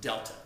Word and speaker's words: Delta: I hope you know that this triangle is pronounced Delta this means Delta y the change in y